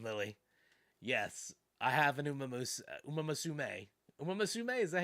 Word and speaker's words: Uma Musume: I've got an Uma Muse. What is that? How do you pronounce that game's name? Uma Musume.